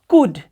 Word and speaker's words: could: बच्चे मिस्टेक करते हैं, इसे कुल्ड पढ़ते हैं, कुल्ड। तो इसे आप कुल्ड ना पढ़े, this is कुड, it will be pronounced कुड।